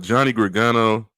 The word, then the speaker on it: Johnny Gargano: Now, with the other matches, I think the Johnny Gargano.